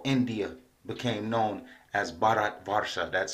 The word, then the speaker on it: Bharat Varsha: and higher chakras but that's another video so Barat Vara is the name of the sphere of the